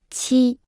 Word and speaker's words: 七: 七，七，七，七，七，七，七。 Se pronuncia con el primer tono.